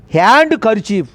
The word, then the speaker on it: handkerchief: D is a silent letter. Handkerchief. Handkerchief is a wrong pronunciation. Handkerchief. R is also silent.